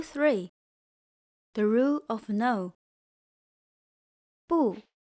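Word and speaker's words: 不: Bù means no, not. It normally sounds falling, but before a falling sound word, it becomes rising. For example, bú shì is not.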